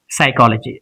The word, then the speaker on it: psychology: The second thing that is firstly this word P is silent it's only pronounced psychology.